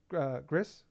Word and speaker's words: Gris: is give you my money so I redownload Gris did I say it right yeah okay I